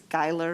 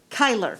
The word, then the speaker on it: Kyler: In our committee, Alex, I think it's Geiler, is that right, from Eugene? Gary, you would know how to say his name. Geiler? Kyler. Thank you.